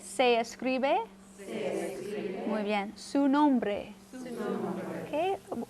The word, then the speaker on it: nombre: Su nombre. Okay. A key is to soften your R's a little bit. Instead of nombre, nombre, like a bre, almost like a D sound to it.